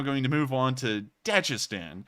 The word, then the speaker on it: Dagestan: And I'm saying Dagestan, I'm sure that someone's about to say it's Dagestan or something like that. I've heard Dagestan. I watch Bald and Bankrupt, and that's how he pronounces it, and he can actually speak Russian, so I'm pretty sure it's pronounced Dagestan.